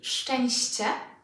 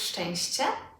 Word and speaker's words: szczęście: And with szczęście, cie, szczęście. Again, cie, szczęście.